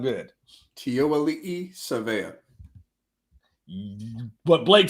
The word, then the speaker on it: Tiaoalii Savea: Pronounce it for me. Make it sound good. Tiaoalii Savea.